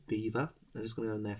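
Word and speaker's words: Belvoir: you pronounce your name despite its spelling beaver is correctly pronounced beaver so you spelt belvar b-e-l-v-o-i-r but it's apparently pronounced beaver right let's have a look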